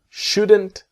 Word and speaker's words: shouldn't: So, you shouldn't buy it now. And the T is silent.